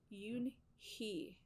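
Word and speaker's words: Unhei: e i it's pronounced yoon he you and he it's uni like you hey like hey you and so they don't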